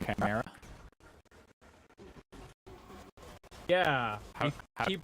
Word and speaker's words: Chimera: Eighth gets mispissed when I mispronounce Chimera. Yeah, you keep pronouncing it Chimera. The emphasis is like you're supposed to pronounce the C like a K.